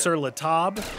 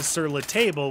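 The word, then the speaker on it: Sur La Table: table it's on top of the table it's pronounced sir latab but everyone in the united states says sirla table which sounds ignorant but anyway so that's where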